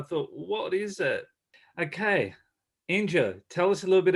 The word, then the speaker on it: Enjo: So a lot of people do call it Enjo because that's how you would spell it out, Enjo, but it's actually pronounced Enjo because it's an Austrian product.